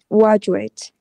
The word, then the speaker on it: graduate: graduate. Đấy, tương tự lại lỗi sai ý. Đó là gradu, ju. Uh, graduate.